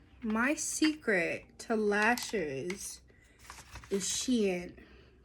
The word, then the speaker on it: Shein: Okay, so my secret to lashes is Shein. Some people pronounce it Shin. I pronounce it Shein.